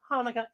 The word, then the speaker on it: Hanukkah: say it with me actually both hanukkah and chanukah are correct the holiday's name is hebrew so there are different ways to spell it and to say it in english says applesauce